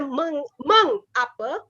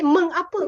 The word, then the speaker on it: mengapa: Because when we speak, although we have the meng apa, but when we speak, we never say meng apa. We always say mengapa or mengapa in Indonesia, I guess.